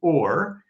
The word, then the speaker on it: Ur: uh Hebrew tends to drop final short vowels. So it's simply or in Greek it was Adessa named that way by Seucid the Seus the first.